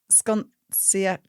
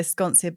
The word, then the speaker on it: Sconcia: Um, I it's pronounced sconc my last name, but I also say sconcia because it's it's s c o n c i a. Yeah. Because the c and the i in Italian is a ch sound.